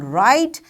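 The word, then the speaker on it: write: with the silent letters as w in right and k in no this is our today's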